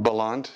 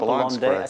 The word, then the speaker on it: Bellande: Is that pronounced right? Bellande? Bellande, yes. Not Bellande.